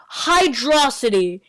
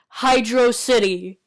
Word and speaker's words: Hydro City: level from Sonic 3 it's freaking Hydro City it's not hydrosity it's Hydro City hell most of the voters agreed that this is the way to pronounce Hydro City it is a literal